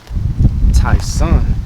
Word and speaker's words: Tyson: they say my name right you know it's pronounced taon ta son a you trying to say that you me